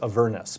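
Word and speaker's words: Avernus: and and the the the most sort of traditional pronunciation in English is a Vernis because it's not a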